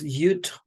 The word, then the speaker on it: Yud: So Yud, the 10th letter, Yud, Yod, depending on how you pronounce this vowel, this Vav vowel.